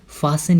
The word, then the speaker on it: fasten: हम फास्टन तो लिखते हैं, लेकिन वहाँ पे टी साइलेंट होता है और उसकी प्रोनाउंसिएशन होती है फासन।